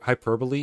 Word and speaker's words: hyperbole: I don't get why hyper hyperbole is pronounced like that in English and not hyperbol. That seems way more logical. And I think it's how it's pronounced in Dutch as well.